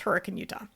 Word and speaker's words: Hurricane: Actually, they were just British settlers. The first pioneers who settled there were British, and that's how they say it. And that's how Brits still say the word today.